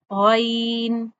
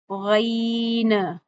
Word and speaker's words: غ: गैन इस तरह से नहीं पढ़ना। नाक में अदायगी नहीं करनी और ना ही गन की आवाज़ को एंड पे उछालना है। ऐसे भी नहीं पढ़ना। गन ऐसे भी नहीं पढ़ना। ठीक है? कैसे पढ़ना है? कैसे पढ़ेंगे हम? गन गन। आवाज आपके गले के शुरू वाले हिस्से से आनी चाहिए।